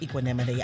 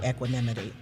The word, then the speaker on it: equanimity: Now, some people pronounce it equanimity. I say equanimity.